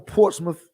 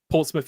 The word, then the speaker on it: Portsmouth: That's so good to see that's international because people see how it's spelled and they say Portsmouth. Portsmouth. Yeah. Yeah, Portsmouth. and like, no, Yep. it's Portsmouth.